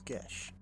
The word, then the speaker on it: Gesh: Am I pronouncing that right? Yes, the name is Gesh.